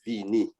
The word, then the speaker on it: vini: a in creole and you say vene but in korea we say vini okay next one you